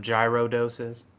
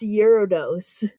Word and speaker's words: Gyarados: Pokemon specifically it's some gyro doses yeah I don't know what that is Gyarados come on Cheyenne you're the Pokemon person it's pronounced eurodose okay well this is